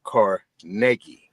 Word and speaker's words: Carnegie: And the proper way to pronounce his name is Car Negi, right?